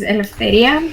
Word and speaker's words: Eleftheria: So my name, as we've already mentioned, is Eleftheria, and it's a bit difficult to be pronunciated.